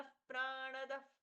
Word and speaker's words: प्राणदः: ईशा ईशान प्राणद प्राणोज शयेश श्रेष्ठ प्रजापति ही हिरण्य गर्भो भूगर्भो माधवो मधुसूदनः ईशान प्राण प्राणोच्छ ई दीर्घ ईशान प जैसा प्रच्छा हुआ प्राणदः ण का पूर्ण उच्चारण प्राणद प्राणो प्राणो दीर्घ जियेष्ठ